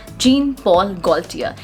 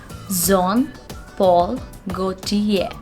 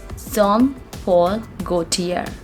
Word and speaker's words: Jean Paul Gaultier: is going to be zon paul gautier go to ye the pronunciation of this word it's not good here we are not going to pronounce the sound r over here it's zom paul gautier john paul gautier all